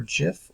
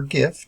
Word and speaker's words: GIF: In the case of graphics interchange format, or GIF or GIF, depending on how you want to pronounce it, there's a discussion there.